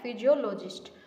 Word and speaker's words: psephologist: Spelling देखो भाई, PSEPHOLOGIST। ठीक है, फिजियोलॉजिस्ट।